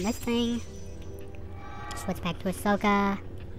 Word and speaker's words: Ahsoka: thing switch back to Ahsoka if I'm saying the name wrong I'm really sorry but I think it's sooka